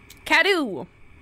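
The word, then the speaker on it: Cadou: Cadu.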